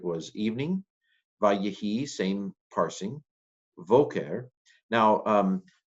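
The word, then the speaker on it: בֹקֶר: Now, it doesn't have a dagish to harden the sound. So instead of boker, which is what it would be at the beginning of a sentence, probably, it's voker. It's pronounced like a v in modern Hebrew as well.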